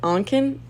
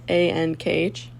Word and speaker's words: Ankh: The, I don't know how to say it, Ankin? A-N-K-H? Ankh. The Ankh.